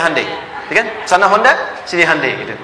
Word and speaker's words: Hyundai: di sana bikin Honda sini hundai Hyundai kan dibacanya hundai ya kan sana Honda